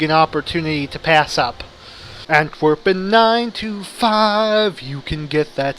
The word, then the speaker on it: Antwerpen: trying to make is the Dutch name for Antwerp is aunt Torben I pronounced that weird it's antwerpen and I just realized